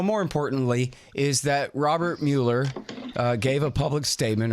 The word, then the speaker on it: Mueller: importantly is that Robert Mueller gave a public statement or Muller his name is spelled just like the old Mueller Airport here in Austin so that's his fault not mine Robert Muller gave his gave